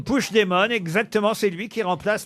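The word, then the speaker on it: Puigdemont: pour moi lu plus c'est parce que vous prononcez pas bien c'est c'est le nouveau P demon pardon c'est le nouveau push demon push demon exactement c'est lui qui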